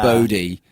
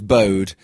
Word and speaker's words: Bodhi: didn't know Bodhi was Yeah. Bodhi. I thought it was Bode.